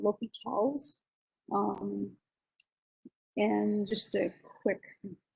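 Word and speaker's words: L'Hôpital: there's two correct spellings and uh but definitely pronounced l'hopital's don't don't pronounce it the hospitals it's it's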